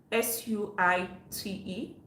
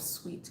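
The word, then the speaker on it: suite: the other day i mispronounced the word s-u-i-t-e and i said suit instead of sweet my goodness the way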